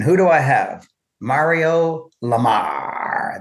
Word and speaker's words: Lamarre: Mario Lamar, that's the French pronunciation, Lamar.